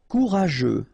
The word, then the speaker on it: courageux: Courageux. Final X not pronounced, and then you get this U, E, and G plus E. After that it's je, so je, okay?